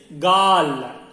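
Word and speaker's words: गाल: The cheek is gal. Gal. And also we say kapol. Kapol also we say. But people are using more gal only. Gal. Gal means G-A-L-L. Gal means cheek.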